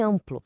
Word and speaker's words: amplo: Em amplo, a gente escreve am, mas o som é um só. O som nasal an, um só. Isso é de grafo nasal.